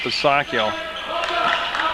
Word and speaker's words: Pasacchio: Now I checked, yeah, right with the man himself, and he pronounces it Pasacchio. I've heard all kinds of different pronunciations, that's why I went right to him.